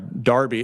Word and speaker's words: Derby: about 60 employees in in Darby it looks they spell it like our Derby uh in in cedra County but it's Derby England um this is a